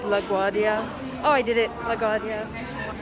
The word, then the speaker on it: LaGuardia: I don't know how to pronounce this place's name. It's LaGuardia.